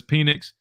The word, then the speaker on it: Penix: Michael with a $10 super chat says Penix. That is how you say his name. Penix. Michael Penix.